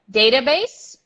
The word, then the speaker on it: database: database database database now I want to call your attention to the SE at the end which is not based see you don't say they you stop right in the S database database database database